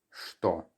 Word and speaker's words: что: So we have a letter ch here that, as you know very well, makes the ch sound, right? So why is it sh in this case? Well, you just have to remember that this word here, что, is an exception to the rule.